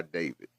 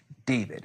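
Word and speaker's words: d4vd: Uh and all of it has centered around the singer named uh David. It's pronounced David, but it's spelled uh with um with a four.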